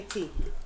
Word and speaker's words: Ty: And the T is for tell nobody. But my nickname is actually spelled T-Y. Oh, okay. Yeah. Okay. Okay. It's pronounced T, but it's spelled T-Y.